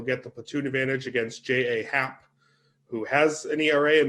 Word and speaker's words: J.A. Happ: Happ, really, I'm glad that you pronounced his name J.A., Erik, because it's the incorrect way, but it's actually the correct way. Because you don't get to say your name's J Happ when it's J.A. Happ.